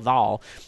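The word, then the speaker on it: Vaal: I hope I'm pronouncing that right. V-A-A-L, Val, is coming out next week.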